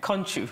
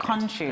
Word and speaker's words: Nkontchou: Nkontchou. Nkontchou. The N is silent. It's the N that really threw me up. Nkontchou.